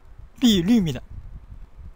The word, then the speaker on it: 碧绿: 비리 할 때 리 이 발음 이 요 발음 비리입니다. 리 할 때 발음에 입술에 힘을 줘야 돼요.